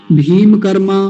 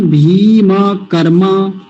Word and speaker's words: भीमकर्मा: पहली तो दीर्घ ईकार, बड़ी की मात्रा, और मकार पूरा रखना है, भीम नहीं, भीम। गलत उच्चारण सुनिए, भीम कर्मा, भीम कर्मा, गलत उच्चारण एकदम। शुद्ध उच्चारण भीम कर्मा।